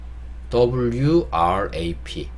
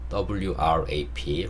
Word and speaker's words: wrap: 단어 보도록 하겠습니다 자 wrap 자 제가 영상 초반에 무금이라는 개념을 알려드렸어요 다 글자가 써 있긴 하지만 그 일자를 발음하지 않는 걸 모금이라고 하는데 여기서 더블유가 묵음이에요 소리가 안납니다 그래서 rap만 읽으시면 돼요 그래서 우리 조금 전에